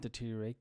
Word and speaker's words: deteriorate: difficult to pronounce deteriorate the first R and deteriorate gets the same treatment deteriorate okay deteriorate Decay